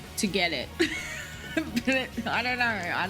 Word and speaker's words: Togetic: Like, it's not togetic. It's like to get it.